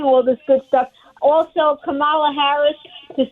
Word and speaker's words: Kamala: Also, Kamala Harris, to say her name incorrectly, that's not fair.